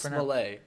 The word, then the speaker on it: Smollett: probably that's actually how his name It's is pronounced Smollett, all right?